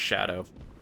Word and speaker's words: Scadu: that like Jail uh that scadu there is just like a really Olden spelling and it's actually pronounced shadow is there going to